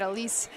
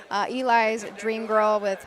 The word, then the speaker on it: Eli's Dream Girl: But the 6, Eli's Dream Girl, I think I mispronounced when we were first going through. I said Elise. Eli's Dream Girl trained by Levi Hirschberger.